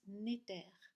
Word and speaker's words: Néter: vient du mot Égypte N-E-T-R qui se prononce Néter, qui veut dire l'esprit, et al qui veut dire lié à, venant de.